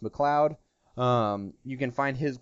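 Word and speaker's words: MacLeod: M McLoud is I I've been confirmed that it is pronounced McLoud um you can find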